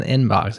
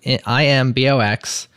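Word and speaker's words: Imbox: not mispronouncing it listeners it's not an inbox it's an i box I think this has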